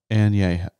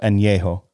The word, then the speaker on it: Añejo: Añejo. So it's a letter we don't have in our alphabet. It's not an N, it's an Añe. Yeah. Right. So Añejo.